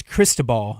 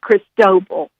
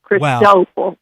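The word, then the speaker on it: Cristóbal: me to guess what it's called with the pronunciation of it. I believe. Um, yeah, it looks like it's crystal ball.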